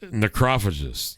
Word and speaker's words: Necrophagist: Necrophagist or something. Well, so I don't think that's how you say that. I think it is. What do you think it is? Necrophagist.